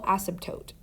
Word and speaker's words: asymptote: hot second on this word but this is pronounced horizontal asymptote a horizontal asymptote will always be drawn on a graph with